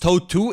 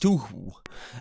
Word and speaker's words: Touhou: It's not pronounced Toe-2, it's pronounced Toohoo.